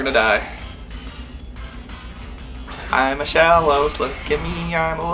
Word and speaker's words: Shellos: And maybe just into the ethos, what have to do for Shellos to evolve. It's spelled how it sounds. Yeah. Shell with an ass.